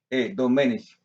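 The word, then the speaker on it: Domènech: Hermanos, a los hermanos de la familia de mi abuelo que se llamaba Mariano Domenech, con acento en la Domenech, de Cataluña o de Asturias, como quiera, porque él era como gallego, él era de España.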